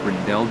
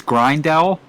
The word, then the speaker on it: Grindell: I want to say it's Grindell, Grindel. And as it rhymes with like Ricard Rydell, former touring car driver.